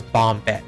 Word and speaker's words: Bombed: was right from the beginning you're supposed to pronounce it as bombed like bomb head but back to the enemy